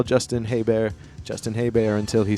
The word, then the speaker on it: Hebert: Back in the Day spelled the same way as Herbert and his name was Bobby Hebert that's how he pronounced it so I'm gonna pronounce I'm gonna call Justin hey bear Justin hey bear until